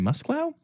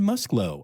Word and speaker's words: Muslow: listen regularly might think don't you mean Karen musclow but no it's Karen muslow I've been saying it wrong this whole time and she just told